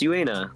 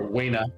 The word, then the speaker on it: Uena: It's Uena. That's right. My fault. Yeah, it's Uena, yeah. Definitely Uena. Or Wena, I pronounce it.